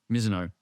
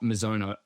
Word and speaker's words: Mizuno: Miso. That's how they say it over here. Miso three times. Well, I did get it right the first three times. Miso, it's not Mizo.